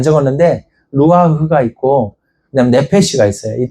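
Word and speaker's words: נפש: 그냥 내패시라고 읽으면 됩니다.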